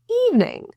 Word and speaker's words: evening: In this word evening, there are two syllables. The stressed syllable is in the E. In dictionaries, you'll see the superscript kind of little mark there that indicates that the stressed syllable is in that section of the word or that syllable. So that's where we're going to stress, and everything after will fall in pitch.